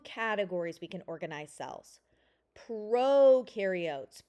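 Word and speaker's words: prokaryote: Proarotes pro rhymes with no pro no.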